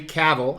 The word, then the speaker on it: Cavill: it it's this custom henry cavill i think i'm saying it right this time it rhymes with travel bust and believe it